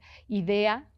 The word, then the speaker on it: Idea: Una uruguaya del siglo pasado, que nació en 1920, Idea, como qué buena idea, tal cual así se escribe, sin H, sin nada, Idea Vilariño, es contundente, es muy constreñida.